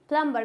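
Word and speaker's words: plumber: प्लंबर क्या हो जाएगा ये प्लंबर क्योंकि एम के बाद क्या है बी है तो ये क्या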